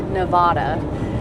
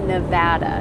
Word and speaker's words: Nevada: But out-of-staters and non-local people call it Nevada. Well, for the record, it is pronounced Nevada, not Nevada, Nevada.